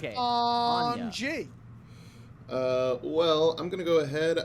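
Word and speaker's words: Anje: The A has to be prolonged. If you don't prolong the A, you're doing it wrong.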